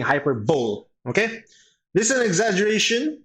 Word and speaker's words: hyperbole: the next one we have is hyperbole I pronounces so we're just gonna be saying hyperbole okay this is an exaggeration use for effect